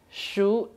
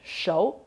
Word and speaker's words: 熟: While in the dictionary, the character when used alone is pronounced as shou. When used to form a word, is pronounced as shu. For example, to say this peach is ripe, 桃子熟了 in Chinese, here pronounces shou. However, if I say a ripe peach, 熟桃子, in Chinese we say shu.